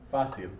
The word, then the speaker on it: fácil: Fácil. Fácil, good. Accent there, so that's very similar to that one. Accented and the C followed by an I.